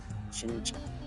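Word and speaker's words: Qingque: Shincha. Okay. Yeah, because I knew that, like, the Q can be pronounced as, like, the ch.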